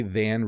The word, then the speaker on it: than: When we say than really quickly, it does sound like then. So I would say 4 is greater than 3. If I say it fast, I would say 4 is greater than 3. And it sounds a little bit like then, but it is than.